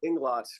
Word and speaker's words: Englot: it right sure and Glock and glott okay Inglot great thanks Dario uh as our as our